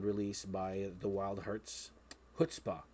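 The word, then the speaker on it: chutzpah: by the wild hurts hutzpah not shutspaw which i thought at first but uh this album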